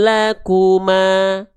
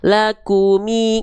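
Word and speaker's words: لكم: Enggak dibaca libasul lakuma, enggak. Lakumi enggak lakumu? Enggak, tapi lakum.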